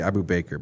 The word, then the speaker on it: Abu Bakr: And how do I pronounce it? I'm gonna say Abu Bakr, but how do you Abu Bakr.